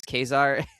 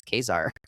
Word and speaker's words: Caesar: And she's like, well, you're not really German, so I'm not sure why we're going with Kaiser here, but sure. They don't do the soft C. No soft C for them.